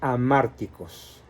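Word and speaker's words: hamárticos: que se llama mandatos amárticos se escribe con h a márticos y la palabra anártico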